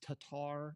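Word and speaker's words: Tattar: a woman named Kristen I think her name's pronounced Tatar it's t a t t a r okay and she's like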